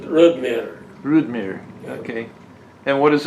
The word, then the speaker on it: Rodmyre: And if you were Norwegian, you'd pronounce it Rodmyre.